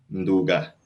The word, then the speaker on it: Ndouga: Creo que no pronuncié bien el apellido. Ndouga, ¿no? ¿Es así, Frédéric? Ndouga.